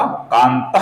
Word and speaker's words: कान्तः: उच्चारण करना पड़ता है, उसी प्रकार विसर्ग के आगे जब क आता है दोस्तों, तो विसर्ग का हल्का सा ख ऐसा उच्चारण हम करते हैं, अपूर्ण ख का उच्चारण हम करते हैं। ऐसा उच्चारण हमें यहां पर करना होगा।